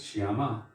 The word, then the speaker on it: Shyama: And there's a difference between the two in terms of how you pronounce them. One is Shyam, that is Krishna, and the other is Shyama, Srimati Radhika.